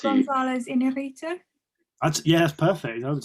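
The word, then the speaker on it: Iñárritu: Can you attempt to say his name in perfect Mexican Spanish, please? Yes, so it is directed by Alejandro Inarritu. Gonzalez. Inarritu? That's pretty spot on, to be fair.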